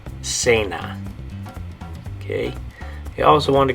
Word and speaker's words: cena: have it on here, it's a word in Spanish that makes the soft C sound. Okay, so in English it's dinner, in Spanish it's this word. Okay, and the way you say it is cena. Okay, so in English you would have dinner, in Spanish you're going to say cena.